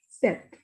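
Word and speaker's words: sept: pronunciation of this is set set you will not pronounce p here this is set next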